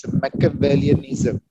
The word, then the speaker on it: Machiavellianism: It's actually pronounced as Machiavellianism.